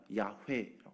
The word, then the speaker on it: 야훼: 공동 성경이나 천주교 성경을 보면은요 여호와라는 단어가 아니라 야훼라고 했습니다 다 달라요 영어권에서는 뭐라고 쓸까요 영어권에서는 재후반